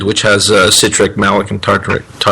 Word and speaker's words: tartaric: out by adding some malic acid or some tartaric acid or the acid blend, which has citric, malic, and tartaric.